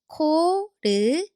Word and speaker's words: 코르티스: So the last syllable is 스. Now connect them slowly. 코르티스.